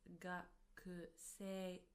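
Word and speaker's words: 学生: Although we write it as gakusei, we pronounce it as gakusei, gakusei, as if the u from ku disappears.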